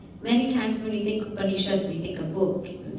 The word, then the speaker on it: Upanishad: And it comes in 3 syllables, Upa, Ni, and Shad.